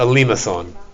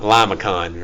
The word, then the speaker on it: limaçon: What's the name of the C that has the little hooky thing on the? I don't know. But it's pronounced sort of like an S. So it's a limaçon, right? It's not limacon, right? It wasn't a Texan that discovered these. It was a Frenchman.